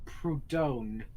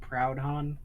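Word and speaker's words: Proudhon: the clarification there oh it's proton not proud on or wait who was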